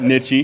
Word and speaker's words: Nitsche: I butchered coach's name not n it's a nichy so so everybody knows